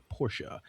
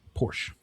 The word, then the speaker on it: Porsche: Uh Porsche. That one? Porsh. Porsche. I guess it's Porsh. The answer is it's Porsha. Two syllables, the e is not silent in German, named after Ferdinand Porsche, not Porsh.